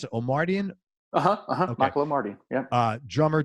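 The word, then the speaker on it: Omartian: How do you pronounce it? Omardian?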